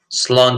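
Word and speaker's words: sláinte: Irish miss a bit Cheers in Ireland or in Irish in the Irish language is slow cha so the launcher is the kind of pronunciation that's how we would say it and my my good friend Brian would kill me for writing the phonetics like this but this is how you say it salon chat that's how you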